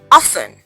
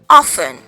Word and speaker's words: often: Often. Often. It's not often. Okay. The T is silent. You do not pronounce the T, so it's often.